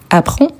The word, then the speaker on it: apprend: Apprend, apprend, apprend. Le DS ou le D à la fin, on ne les prononce pas.